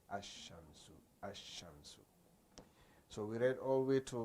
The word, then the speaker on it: الشمس: So when it comes to the huruf shamsiyya, al-huruf shamsiyya, there you do not pronounce the al, because you can't say al-shamsu. No, you say ash-shamsu, ash-shamsu. So meaning you add the